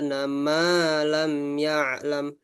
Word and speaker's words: ما لم يعلم: Ma-nya panjang, ma-nya panjang. Al-insana ma lam ya'lam.